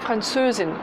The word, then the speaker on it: Französin: Avec bien d'ailleurs l'accentuation, vous avez remarqué, c'est Franzose, Französin. L'accentuation est sur la deuxième syllabe et pas Franzose.